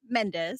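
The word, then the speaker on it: Mendes: Is Mendosa or Mendos? How do you say your last name? Menddees. Menddees. Menddees.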